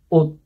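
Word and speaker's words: 옷: Jadi ini bacanya ot. Baca artinya baju. Nih, baju, ot gitu ya, ot. Jadi ini teman-teman ingat, oh ini 7-nya kayak bunyinya T itu, ot gitu.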